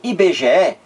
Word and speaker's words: IBGE: aqui ó por exemplo em IBGE eu pronuncio cada letrinha separadamente aqui é a sigla